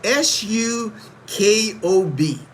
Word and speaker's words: sukob: It's is spelled s u k o b.